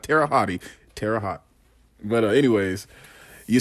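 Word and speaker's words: Terre Haute: in the comments and it's called Tera hot for anyone that goes in on me on the comments I know it's called Tera hot Indiana not Tera hotti Tera hot but anyways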